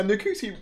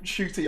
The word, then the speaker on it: Ncuti: genuine nice guy yeah new cootie oh shooty i keep saying it wrong right it's because i